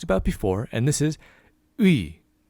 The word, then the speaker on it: 의: We have the and the e, which we've talked about before, and this is ui. Now, sometimes this ui also people will pronounce it e, but it's safer to be ui.